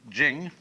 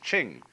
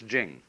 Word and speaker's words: Ching: it's pronounced de, and Jing, there is no apostrophe after the CH, so if there were, it would be pronounced Ching, but it's Jing, like a J.